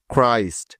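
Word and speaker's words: Christ: আর বর্ণটি থাকলে ওই সি এইচ এর উচ্চারণ সবসময় ক হয়ে যায় তাহলে চলুন এখন এই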